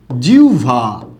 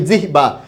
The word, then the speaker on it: জিহ্বা: একটা শব্দ লিখলাম এরকম জিউভা এই যে শব্দটা যে আছে আমরা এটা উচ্চারণ করি কি জিহ্বা জিহ্বা এরকম উচ্চারণ করে থাকি এটা উচ্চারণটা ভুল হবে আপনি যদি এভাবে উচ্চারণটা করেন খেয়াল করুন আপনি এখানে